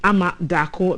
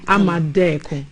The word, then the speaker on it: Amadako: And my name, even though it's spelled A-A, is pronounced E-E. So it's Deko. Deko. Yes. Wow. Deko. So yes. Amadeko.